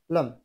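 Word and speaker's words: lamb: ও এম বি এটা বি উচ্চারিত হবে না লাম টি এইচ ইউ এম বি থাম এখানে সি উচ্চারিত হবে না অর্থাৎ সি সাইলেন্ট থাকবে যেমন এস সি ই এন টি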